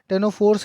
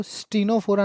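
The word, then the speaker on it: Ctenophora: ना लिख के कॉम्ब, भैया टी के आगे सी है तो इसमें सी साइलेंट होता है, तो इसलिए इसको स्टीनोफोरा ना बोलना, टेनोफोरा बोला जाता है, टेनोफोरा।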